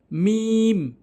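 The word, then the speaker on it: م: মিম, মিম, 2 ঠোঁটের শুকনো অংশ, বুঝতে পারছেন, জিব্বা 2 ঠোঁটের শুকনো অংশ, মিম মিলিত করবেন, মিম, মিম।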